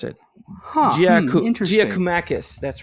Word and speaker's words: Giakoumakis: so it should be easy for you to pronounce. Giorgos Giakoumakis. That is incorrect. It is Giorgos I forgot how to pronounce it. Interesting. Giakoumakis. That's right. Giakoumakis.